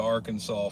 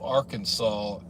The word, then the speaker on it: Arkansas: should check it out how come the S at the end of Arkansas isn't pronounced because it's state law